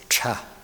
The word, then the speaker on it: 岔: Okay, it pronounces cha, là xóa.